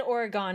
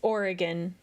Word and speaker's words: Oregon: he said Oregon, it's Oregon. He said it wrong.